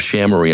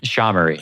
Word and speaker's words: SHAmory: colleague Scott Siblings, the co-founder and CEO of Shamarie. Am I pronouncing that correctly? Shamray.